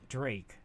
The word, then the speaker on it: drake: old word for Dragons Drake rhymes with snake yeah Drake Drago yeah